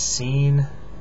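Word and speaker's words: سين: on Top This is scene it's like two two little little dips and then one big dip at the end um yeah it's the S the Arabic s s we have it in English this is Sheen it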